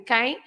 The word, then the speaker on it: quem: Because when the M is at the end, you don't pronounce that as an M. The M is there just to make the nasal sound of the vowel. So that is an E, right, in quem.